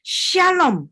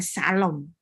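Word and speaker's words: שלום: Shalom bukan salom. Shalom.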